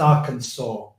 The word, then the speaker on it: Arkansas: vote it it's pronounced Arkansas incidentally um in in in the states that's how the local people say it as you say that